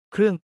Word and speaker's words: เครื่อง: เครื่อง เครื่อง 크루앙처럼 발음, 은 도구, 장비 또는 기구와 관련된 모든 것에 사용하는 접두사입니다.